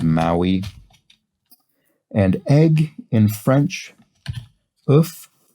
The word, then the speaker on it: oeuf: And egg in French, oeuf. I think often pronounced in French without the F, but in English is the source of love.